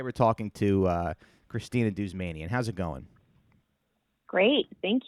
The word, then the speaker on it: Douzmanian: thank you and wow you pronounced my last name right good job how do how how else do people pronounce it um generally they don't they they'll like start they'll be like dao dudes yeah like sorry how